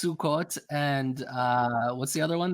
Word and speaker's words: Sukkot: Everything is O instead of A. So it's Sukkot and what's the other one there?